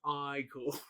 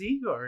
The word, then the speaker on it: Igor: to me he's like he must be igor he's like no it's pronounced i cool like he's like doing it back to him and he's like they told me it was igor and he's like well they were wrong then weren't they there's also